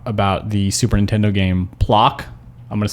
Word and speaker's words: Plok: We talked about this comic that was coming out about the Super Nintendo game Plok. I'm going to spell it again because it's really hard to hear.